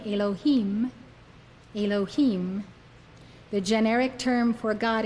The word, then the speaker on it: Elohim: don't know meaning Lord when associated with B nah it is pronounced Elohim Elohim according to Rabbi